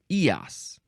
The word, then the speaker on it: Eos: time the first thing EOS no it's EOS EOS it looks like EOS but it's EOS here we go